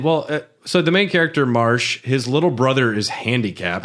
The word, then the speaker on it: Marche: And well, so the main character Marsh, his little brother is handicapped. I pronounced it Marche. Marche.